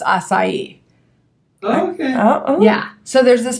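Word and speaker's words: açaí: pink it's spelled AC Ai and some people pronounce it a Kai but I've been told it's assai okay yeah so there's this place called B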